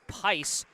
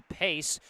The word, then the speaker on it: Pice: sister Izzy's last name, pronounced Pice as opposed to Pace, which bugs me because someone corrected me on the pronunciation saying it was Pace.